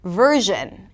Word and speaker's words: version: For example, in the word 'version', adding a 'd' sound would make it sound like 'virgin', which is a little different.